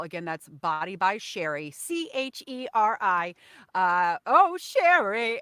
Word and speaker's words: Cheri: Again, that's Body by Cheri, Cheri. Oh, Cheri. And just think of Sherry, but it's spelled kind of like cherry. And then you just like get fun and do one R and one I.